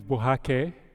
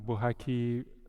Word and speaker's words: Buhake: My name is Buhake, not Buhake. Everybody's mispronounced my name, but it's officially Buhake.